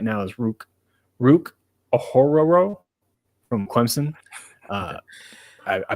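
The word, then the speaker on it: Ruke Orhorhoro: butchered that but and I promise you that's like about how it is it literally sounds like you're Scooby-Doo saying his last name okay all right he's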